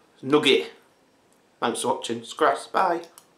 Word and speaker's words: Nugget: I know some people like to pronounce it Nougat. Nugget.